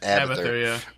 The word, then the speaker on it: Abathur: Is that how you pronounce it? Abathur, yeah.